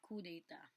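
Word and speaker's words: coup d'état: crime of cou data it is spelled as coup d'etat but that is read as coup data so uh what is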